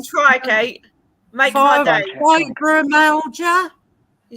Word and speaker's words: fibromyalgia: I know what it is, but I can't pronounce it. Go on, try, Kate. Make my day. Fibromyalgia. You said it perfectly. You said it better than me. Yeah. Fibromyalgia.